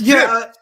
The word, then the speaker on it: GIF: Like y'all said, definitely a hard G GIF.